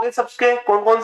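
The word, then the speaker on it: tsetse: और इसका वाहक सी फ्लाई। टी साइलेंट रहता भी है, सी मक्खी।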